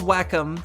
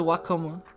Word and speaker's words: Wacom: is wacom then so so it's it's basically like if if you're pronouncing that in in english the closest thing you would pronounce it with an ink with english uh with english phonemes would would probably be closer to to to wacom or wacom um you know as opposed to guacomo of course it's